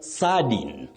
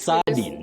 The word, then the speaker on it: sardine: Then sardine. Oh, wait. Sardine, not sardine, the way we said it, yes.